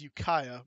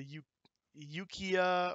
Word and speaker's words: Ukiah: the life of them this is Ukiah by the way but they were thinking it was a you you Kia or boo Kia or something